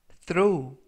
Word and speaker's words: throw: 이번 표현은 throw, throw, throw 라고 발음하시면 되겠고요. 이때 th는 번데기 발음 품사는 동사, 뜻은 던지다 라는 뜻을 가지고 있습니다.